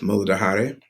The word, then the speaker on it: Muladhara: So, going into the first chakra, we have the root chakra, which in Sanskrit is pronounced Muladhara.